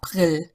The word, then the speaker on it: April: is UIL in German April no it's ail local local so that's